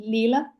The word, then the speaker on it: Leela: how should I tell your name is it Leela yeah that's right okay okay because in Estonia we we pronounce every letter as as we see so